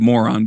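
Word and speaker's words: Morón: Lake Moron, it's spelled moron, but in Spanish it's Moron, in the Paracas area,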